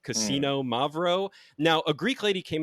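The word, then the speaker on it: Xinomavro: this is a 50/50 cassino mavo that is x i n o m a v r o you basically pronounce it like gambling at a casino Cino mavo now a Greek lady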